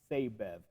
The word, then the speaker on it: Sabev: And I've been pronouncing in his name Sabev, I believe, but I have been corrected, and his name is officially pronounced Sabev.